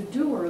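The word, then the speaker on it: dour: walks around with a doer look did you know d o Ur is pronounced doer anyway Maria with do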